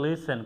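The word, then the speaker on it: listen: আমরা এটাকে বলে লিসেন, কখনো লিস্টেন বলা যাবে না, লিসেন। এখানে দেখেন আমরা টিকে উজ্জ্বল রাখছি।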